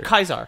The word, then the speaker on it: Caesar: pronounce it but like most modern linguists agree that that's probably how it was pronounced back in ancient rome oh was kaisar interesting